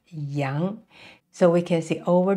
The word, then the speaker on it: 羊: chin and also the beard and it is pronounced Yang so we can see over the years these horns are changed into two dots so with three horizontal lines and a vertical line so it represents Yang the goat Yang and next we have this